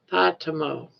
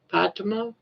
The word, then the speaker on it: Fatima: Fatima, but with an O sound on the end. Fatimo. Fatima.